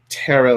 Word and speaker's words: tarot: and they kept saying you have to pronounce it to because if you don't pronounce it to you're actually not an actual reader. You can't um you know you can't actually do this if you don't say too. I'm like taro.